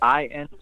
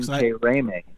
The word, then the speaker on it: Intiraymi: So that's I-N-T-I-R-A-Y-M-I. So now say it. How do you actually say that? Intiraymi. Pronounce it Intiraymi. So I was cut Manu